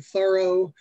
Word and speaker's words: Thoreau: i had to learn to at least say some things in the new england dialect including thorough and sophia and concord